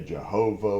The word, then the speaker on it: Jehovah: Some people pronounce it with a J, Jehovah, whatever.